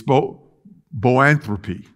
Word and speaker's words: boanthropy: My wife tried to teach me how to pronounce it. It's boanthropy, B-O-A-N-T-H-R-O-P-Y.